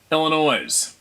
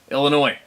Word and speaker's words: Illinois: your humility it's pronounced Illinois the S is silent LOL it is Illinois it's like people call